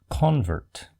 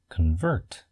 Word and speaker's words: convert: When used as a verb, the first syllable is pronounced kn and the stress shifts to the second syllable.